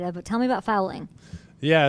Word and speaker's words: Fowling: But tell me about fowling. Yeah, it's actually pronounced Fowling, like bowling with an F.